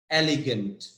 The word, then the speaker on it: elegant: Yes, the stress is on EL, EL.